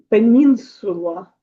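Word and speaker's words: península: Пенісу Пенінсула. Так, пенінсула. Буковки не не губимо, читаємо всі, окрім аче.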